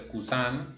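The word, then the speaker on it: cousin: por eso suenan así kusan nasaliza la i y kusin no la NASA Lisa Porque después de esa m hay una m algo la aclaración por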